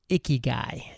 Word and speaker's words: Ikigai: while on Entrepreneurs on Fire is this phrase, Ikigai. And I know I'm pronouncing that correctly as far Yes. as I know. Good, thank you. And I want to talk about exactly what is Ikigai and what success has it led to for you?